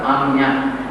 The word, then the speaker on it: Agnya: That's Agnya. In Bengali, Bangla pronunciation.